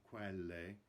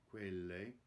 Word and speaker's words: quelle: Notice the closed E in quelle, the last word, it's not quelle, quelle.